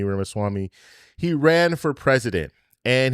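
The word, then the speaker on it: Ramaswamy: If you guys don't know who Vivic Rimwami is, he ran for, and I know I'm saying his last name wrong, Ramaswami. Rimmawami.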